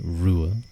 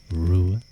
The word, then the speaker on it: Ruadh: My name is pronounced Rua Ua. Rua Ua.